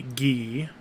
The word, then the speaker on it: Guy: sword users we have i don't know if you remember guy or gee some of these you guys didn't see because we didn't finish the game but we did see ghee it's it's spelled guy g-u-y he had green hair